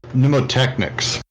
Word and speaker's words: mnemotechnics: I believe it's mnemotechnics, but I'm not positive on the pronunciation of that. I'm now Googling. A silent M, like Nemo? Like mnemonic.